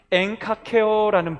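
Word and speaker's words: ἐγκακέω: 헬란말로는 엔카케어라는 발음을 합니다.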